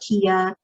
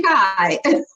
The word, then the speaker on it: Kai: That's so funny because I switched over to Kai and I'm like, all right, I'm going to give you all this simple name.